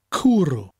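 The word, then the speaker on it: cwrw: cooroo cooroo cooroo cooroo people who say Welsh as no vowels will love this word it's spelt CW r w kuru now orange juice is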